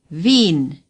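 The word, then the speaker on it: Wien: capital of Austria is Veen we call it Vienna say Veen the W in German is pronounced like our V in Vienna the IE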